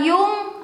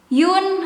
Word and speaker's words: Jung: Nah ini ada yang baca Jung, ada yang baca Yun, ada yang baca Yon, ada yang baca Yong. Terus ada yang bilang yang benarnya adalah Carl Jung gitu ya.